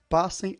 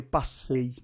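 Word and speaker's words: πάσῃ: Não falei passei, falei passe. Agatóssune, não estou falando agatóssunei.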